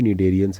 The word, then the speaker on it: Cnidarians: तो उस वजह से जितने भी निडेरियंस हैं, सी साइलेंट होता है, जितने भी निडेरियंस हैं, example corals have a skeleton composed of calcium carbonates.